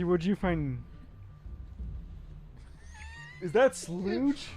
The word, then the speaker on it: Slough: Is that slooge? Slow. Slow. Is that splooge? Slooge. I hope it's not splooge. Spell it.